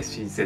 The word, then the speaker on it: 身施: えまこれも漢字で書けるんですけれどもえ身体のシ体の身体のシですねに施すと書いて神聖と読むんですけどもう